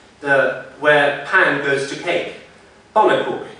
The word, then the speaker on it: pannenkoek: Pannenkoek. In the pronunciation, there is a schwa.